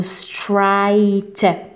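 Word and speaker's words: straight: بالنسبه للار هنايا راهي منطوقه، ننطقوها نقولوا سترايت. اوكي سترايت علاش راهي منطوقه؟ على خطر كاين مور الار فاول، كي يكون الار موراه فاول ننطقوا الار.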